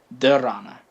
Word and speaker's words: dharana: And then after pratyahara comes, I believe it's, I'm gonna say it's dharana. Yeah, I'm pretty sure it's dhyana. Let me just make sure I'm pronouncing it correctly. After pratyahara comes dharana.